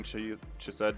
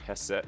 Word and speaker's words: Chesed: Kind of nerd moment, but I hate when people are doing Chesed cheese joke because it's pronounced Hesed. Yeah, I know it is. It's pronounced like Hesed because it's Hebrew, right?